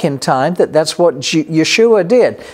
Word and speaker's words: Yeshua: time that that's what Yeshua did Jesus as you would say his name in English Yeshua or salvation of God as you would say it in Hebrew but it was these